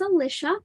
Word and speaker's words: Alicia: face yet once again my name is Alicia it rhymes with Patricia but you can always